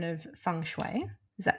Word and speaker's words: feng shui: Let's There are a few different ways of saying it. So, there's fune and funoy, but not fenguy or not fu.